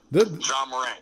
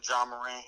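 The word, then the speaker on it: Ja Morant: Is that how you pronounce his name? John Morant, yeah.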